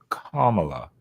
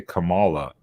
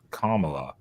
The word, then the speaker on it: Kamala: stuff so and it's it's pronounced Kamala and if you say Kamala not kamla you're racist apparently that's